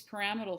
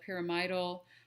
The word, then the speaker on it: pyramidal: and so see these paramal cells uh P I call them paramal cells I've heard them pronounced pyramidal um but they kind of look like pyramid don't they so we can see